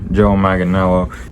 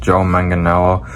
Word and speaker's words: Joe Manganiello: The actor Joe Manganiello. Hey guys, it's Editing Austin here. So apparently it's pronounced Joe Manganiello.